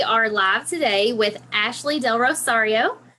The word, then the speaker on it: DelRosario: with Ashley del Rosario am I saying your name right hey you are love your last name you should hear some of the ways that is pronounced with a real southern twang oh no no you said it perfect good well she owns